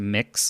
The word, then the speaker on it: Mx: and it's pronounced to mix like you're mixing a bowl to make pancakes or something I don't know um